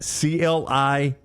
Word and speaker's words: Cliett: Rod Cliett, Cliett, is how you say that.